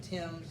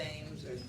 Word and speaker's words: Thames: the thames river e-h-a-m-e-s we pronounce it something that sounds like tim's not the thames but the tim's reverb and so even the